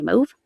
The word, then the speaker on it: mauve: UK are laughing because our pronunciation of that word is not the same as your word, the way you pronounce that word. I think you say mauve.